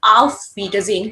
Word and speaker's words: auf Wiedersehen: get a letter S, you're always going to pronounce as Z, not so.